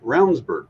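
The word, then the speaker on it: Ravnsborg: running as well but rburg name is spelled ravensborg Raven that's right it is but it sounds like rburg and you know and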